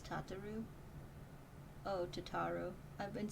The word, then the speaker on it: Tataru: she ensures that everything runs smoothly wait it's tataru oh tataru i've been saying your name wrong for 10 years tataru sorry tataroo please